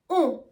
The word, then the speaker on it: ont: For example, we would say ils sont, ils vont, elles ont. The spelling is O-N-T, S-O-N-T, or V-O-N-T. But the T is always silent, and also the sound is kind of nasal.